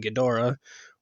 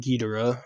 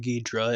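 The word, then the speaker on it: Ghidorah: obviously a reference to King gadora or king gidora or King gidra if you're a failure of pronunciation but she has a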